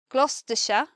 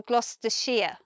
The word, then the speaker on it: Gloucestershire: Or you say Gloucestershire or Gloucestershire. And maybe it depends on who you ask, or maybe it depends on where you're from in the country. But in my natural pronunciation, if I were to say these places, I would feel most comfortable saying Shire, Bedfordshire, Oxfordshire, Gloucestershire.